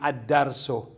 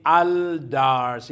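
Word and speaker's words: الدرس: sa tahimik na l kaya ang darso magiging addarso ganon then ay binibigkas bilang addars addars at hindi aldars hindi pwedeng al kasi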